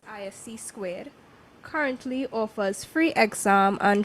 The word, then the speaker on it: ISC2: System security certification Consortium isc2 pronounced ISC squ currently offers free exam